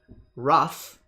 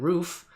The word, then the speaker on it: Ruf: to pronounce it online however my last name ruff from German roof people are kind of like go either way they flip a coin there ruff their roof there how do you